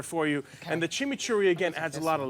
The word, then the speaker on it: chimichurri: And I made something called a chimichurri. What is that? What is that? Chimichurri. Usually you roll your R's with it.